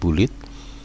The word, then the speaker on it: bullet: ya Bagaimana cara membuat Balit atau bulet ya bulet yang mungkin ini dalam bahasa Inggris membuat cara membacanya bulet Numbering dan multilevel list